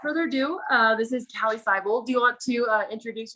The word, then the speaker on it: Siebald: Did I pronounce that your not last name right? It's actually Siebald, but it's a Siebald.